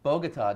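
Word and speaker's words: Bogotá: You say Bogota. Latin Bistro, I say Bogota. The way it's properly pronounced.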